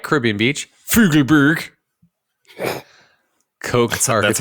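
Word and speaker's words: Fugleberg Koch: The project architects, of course, like Caribbean Beach, Fugelberg, Koch That's architects how it's pronounced.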